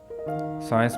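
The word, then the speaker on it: science: second word है साइंस साइंस में भी सी से पहले एस आ रहा इसलिए सी जो है वो साइलेंट होगा और थर्ड वर्ड है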